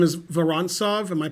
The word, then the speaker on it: Vorontsov: And his name is Vorontsov. Am I pronouncing it right? So yeah, his last name is Vorontsov. Vorontsov, okay.